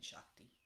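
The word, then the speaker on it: seacht: I just like saying Shakti. It might be my favorite word. Shakt. It's pronounced the very same as Shakt in Irish, is the number 7. Same exact pronunciation, spelled differently.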